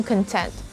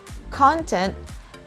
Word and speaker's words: content: confused with the pronunciations they actually differ between where we put the stress so the first one noun content the stress is on the first syllable whereas for the second one content the stress is on the second syllable number three is it